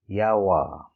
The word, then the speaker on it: Jawa: Our next brand is JAWA, and it's pronounced as Yawa, Yawa.